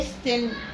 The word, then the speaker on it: listen: حرف التي هنا صامت. يعني ايه صامت؟ يعني حرف يكتب ولا ينطق. ما ينفعش انطق التي في listen. ما ينفعش اقول listen غلط. امال هقول ايه؟ listen. listen listen listen. استمع يعني ايه؟ listen listen listen listen listen listen. listen يبقى تي هنا سايلنت.